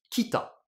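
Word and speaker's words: 北: seul CJ donc réflexe il faut utiliser la lecture purement japonaise donc je vais l'écrire bien en kilagana et ça se prononce donc Kita c'est comme ça que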